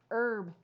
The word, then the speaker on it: herb: turned helplessly to hannah herb she whispered don't pronounce the h he nodded gratefully and